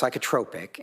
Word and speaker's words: psychotropic: It's pronounced psychotropic and sorry.